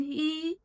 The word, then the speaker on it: 一: When E stands alone, acts as an ordinal, or appears at the end of a word, it's pronounced with the first tone. E. When E is followed by a fourth tone syllable, it's pronounced with the second tone.